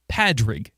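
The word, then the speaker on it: Pádraig: Patties or course patties is because the Irish spelling and the Irish version of the name Patrick is padri like p a d IG cuz there's like there's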